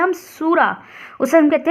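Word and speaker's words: sura: जो हिस्सा होता है उसे कहते हैं हम सूरा उसे हम कहते हैं सूरा एस यू आर ए सूरा नी को हम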